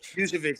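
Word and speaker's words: Vučević: Vucevic, thank you.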